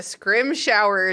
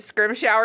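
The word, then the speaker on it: Scrimgeour: Scrim shower is a close approximation. Scrimger. That's solid. I can't do it. Scrim shower. The trick is to say scrim and then just like Britishly grunt.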